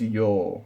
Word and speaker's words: 曜: And it's pronounced yo, like kayobi, doyobi, mokuyobi, kinyobi. That yo sound is this character.